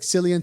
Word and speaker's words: Cillian: Even if we it has gotta see Cillian 20 Murphy or Cillian, however I think you it's pronounce Killian it.